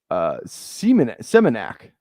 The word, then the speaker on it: Semenak: Semenak is how you would pronounce my last name.